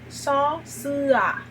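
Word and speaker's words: ส: E a pronúncia dela é só, sa. Só, sa. Sendo sa, tigre em tailandês.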